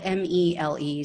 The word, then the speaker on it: Mele: It's spelled M-E-L-E, so I believe it's Mele.